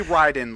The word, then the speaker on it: Raiden: Black Adam skin it's Raiden whatever do you know I say to that John no it would be it would be Ryden like Raichu because Ry means Thunder that it's pronounced R